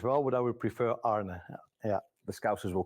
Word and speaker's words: Arne: I've heard an Anie Anna how do you pronounce it correctly I've heard Arie as well a few times when I played Celtic Brandon Rogers he he a few times called me Arie uh I listen to that name but we